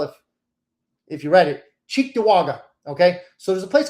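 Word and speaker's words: Cheektowaga: And there's a place, it's it's an Indian name, so you probably wouldn't pronounce it well if if you read it. Chewaga. Okay. So, there's a place called Chewaga.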